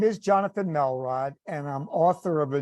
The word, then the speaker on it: Melrod: His name is Johnathan Melrod. Am I pronouncing your last name right?